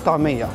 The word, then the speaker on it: ta'ameya: But all other Egyptians call it tamaya. Say it again. Tamaya. Tamaya. Tamaya. Tamaya. Yes. My pronunciation okay?